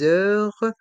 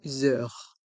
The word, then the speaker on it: heures: tarif tarif réduit demi-tarif les heures d'ouverture les heures d'ouverture ici dans le mot heure le h